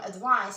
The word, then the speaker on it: advice: verb which comes from advice. So the verb is used with S and it's pronounced as Z, and the noun is written with C and pronounced as S.